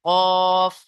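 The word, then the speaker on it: كاف: জিভের গোড়া তার বরাবর উপরের তালুর সাথে লেগে, এই যে এটাকে তালু বলা হয়, উপরের এই তালুর সাথে লেগে উচ্চারণ হয় কফ, তাই না?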